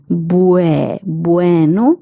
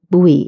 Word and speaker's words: bueno: And then if we add an e, it becomes bueno. Bueno. Many people have the tendency of pronouncing bu u e as bui bui. Okay. But it's not bui. It is bueno.